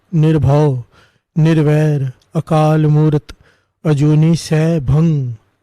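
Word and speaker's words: सैभं: भंग नहीं है, अजूनी सै भंग, सै भंग गुर प्रसाद। लास्ट में जी नहीं आता, ग नहीं आता, अजूनी सै भंग, अजूनी सै भंग, ये शुद्ध उच्चारण है, भंग ग नहीं।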